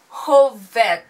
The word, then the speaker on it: Hov1: today we reacting to whole fat so yes thank you for letting me know how to pronounce this because I was like homework 1 but anyways it so